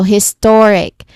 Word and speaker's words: historic: So, historic. Um, historic. Okay. The second one sounds more natural and fluent, right?